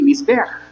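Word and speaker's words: מזבח: Mire, la palabra altar se pronuncia así como dice ahí, Mizbeach, pero se escribe MZBJ, porque en el hebreo no hay vocales.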